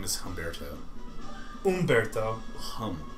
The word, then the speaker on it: Humberto: his name is Humberto Umberto hum the H is silent in Spanish hum Barto H is